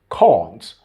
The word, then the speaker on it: can't: Yes, if you listen to Trevor, he said this particular word with the British standard pronunciation. Can't. That's how the Brits pronounce the particular word, can't.